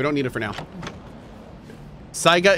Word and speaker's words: Saiga: Saiga is pronounced Sega?